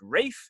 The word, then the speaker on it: Ralph: And it's a big room today, so we have in the room reading Ralph, or possibly pronounced Rafe, is Alexandra, and when I'm not in confinement, I act professionally.